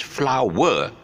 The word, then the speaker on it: flower: W because if it's flower, you notice that this I wrote something on top there. It's called a triphthong. It's not a flower. It's not a two-syllable word.